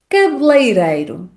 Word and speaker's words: cabeleireiro: Por exemplo, a pronúncia do primeiro é com som fechado, e cabeleireiro. Esse é que tendencialmente na fala rápida vai desaparecer.